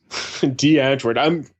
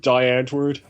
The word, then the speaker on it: Die Antwoord: D. Antwoord. Thank you for actually pronouncing it correctly, by the way. Yes. Because everyone's like, "Hey, bro, have you heard Die Antwoord?"